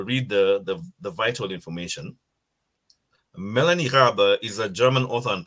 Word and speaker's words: Raabe: It's Raabe. Yes, Raabe.